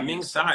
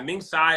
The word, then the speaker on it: Ming Tsai: right here with uh simply ming was chef ming sai is that he pronounced that yeah ming tsai ming tsai is a boston legend so he owned a